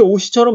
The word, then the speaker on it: 옷이: 그래서 우리는 발음할 때 오시라고 발음해도 문제 없다고. 왜? 요 이응은 소리값이 있다 없다? 소리값이 없기 때문에 이 없는 빈자리에 그냥 시옷이 뒤에 빈자리네 내가 옮겨가야지 이사 가야지 하면서 그냥 이렇게 오시처럼 발음해도 돼요. 옷이 예쁘다 이렇게.